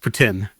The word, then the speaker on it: poutine: And just if you want to be an authentic Canadian or actually Quebecer, which is where poutine is from, it's pronounced poutine.